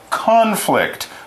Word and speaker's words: conflict: Yeah, notice there, conflict is a noun, and we say it conflict, with the stress on the first part, con. But we can also use it as a verb. To conflict is to have a fight or have a disagreement. If you're using it as a verb, you put the stress on the second part. Conflict is the verb. Conflict would be the noun.